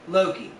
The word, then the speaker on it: Lo Key: I will say that he does pronounce it like Loki it's l o space k-e-y located at one point